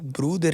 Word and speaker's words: Bruder: Então ele falou assim, cara, se falar em bruder, os caras vão entender porque eu pensei, tipo, a brasileirar e botar um nome estranho fica ruim, né?